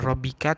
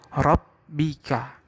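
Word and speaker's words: رَبِّكَ: Fasabbih dan rabbika, bukan rabbika tapi rabbika. Jadi sama seperti 2 huruf yang bersebelahan, fasabbih dan rabbika.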